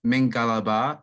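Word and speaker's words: မင်္ဂလာပါ: It's pronounced Mingalaba Shin for women, and it's pronounced Mingalaba Kinba for men.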